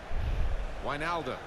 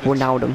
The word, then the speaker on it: Wijnaldum: Look how it's spelled, doesn't it? Sound like Wijnaldum. It's like Wijnaldum.